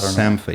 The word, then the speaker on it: Sampha: I keep wanting to say like Sampha or something like that. Sampha, Sampha, I think is how you say that.